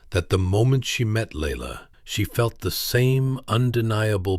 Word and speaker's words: Laila: She revealed to People magazine that she had adopted a second child, a beautiful little girl named Laila, pronounced Laila.